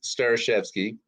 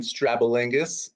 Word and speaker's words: Starishevsky: share with you uh again it's star chefsky i've been called strabalingus jabatinsky stradivarius which i assume was